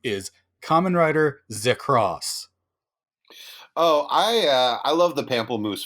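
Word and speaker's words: Kamen Rider ZX: X with no space between them the official pronunciation of this common writers name is Kamen Rider Z cross oh I love the Pamplemousse flavor of it's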